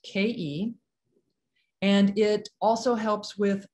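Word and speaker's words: khei: is the vowel sound ke it's spelled k-h-e-i and pronounced ke and it also helps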